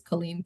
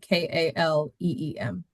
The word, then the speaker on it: Kaleem: phonetically it's like Jaweed, and his last name is Kaleem, Kaleem.